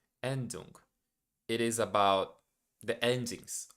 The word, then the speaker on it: Endung: I don't know how to to pronounce that. Let me check so I won't say it wrong. Yeah, Endung. Endung.